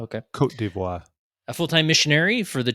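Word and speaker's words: Côte d'Ivoire: the from DR Congo passed away in the Cote d'Ivory. How do you say that mission? Cote d'Ivoire. Cote d'Ivoire. Okay. Cote d'Ivoire.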